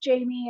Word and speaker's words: J’Amy: you pronounce my name it's spelled crazy but it's pronounced Jamie and so I don't